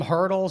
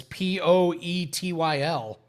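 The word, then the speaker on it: Poeltl: Some people call him Hurdle, some people call him Purtle, and it's Poetyl.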